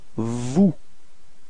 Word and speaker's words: vous: Same thing, final S is not pronounced, so vous.